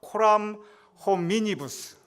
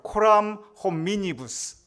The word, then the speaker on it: Coram hominibus: 여러분 발음이 잘 안 되겠지만 한번 따라 해보시면 코람 호미니부스. 야, 이거 우리 라틴어 우리 굉장히 유식해졌습니다. 우리 다시 한번 해보겠습니다. 코람 호미니부스.